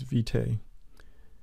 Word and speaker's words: Vitae: artrage 7 version is vitae the emphasis is on the first syllable and the means of